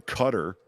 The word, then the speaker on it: Qatar: is meeting over in Cutter and everyone's like pronouncing Qatar like properly and it's over in Cutter and it's like okay